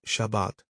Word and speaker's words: Shabbat: An example is Shabbat, Sabbath, with the accent on the second syllable.